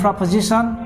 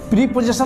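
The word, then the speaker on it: preposition: Adverb है, adjective and प्रपोजिशन and interjection. प्रीपोजिशन मत कीजिएगा। बहुत सारे लोग प्रीपोजिशन बोलते हैं, इसका उच्चारण प्रीपोजिशन नहीं है, प्रपोजिशन।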